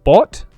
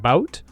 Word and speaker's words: bot: There is a slight mispronunciation on the word bot. I think he says it like bout, but it's still completely